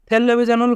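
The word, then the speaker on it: 텔레비전을: এখানে রিউল বাচ্চিমের পর রিউল থাকার কারণে লয় লয় যুক্ত হবে এবং বাচ্চিমের পরে ইয়ং থাকার কারণে বাচ্চিমটি ইয়ংয়ের স্থানে যাবে, তাই উচ্চারণ হয়েছে টেলিভিশনুল।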